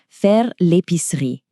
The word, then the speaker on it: faire l'épicerie: To do the grocery shopping is faire l'épicerie.